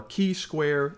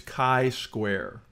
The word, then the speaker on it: chi-square: of chi-square test but let's start with pronunciation of chi-square it's k-i as in kite not chi or key square it's chi-square you may be familiar